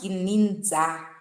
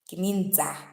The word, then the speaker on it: Gininda: According to my information, the surname is being pronounced Kininza. Kininza.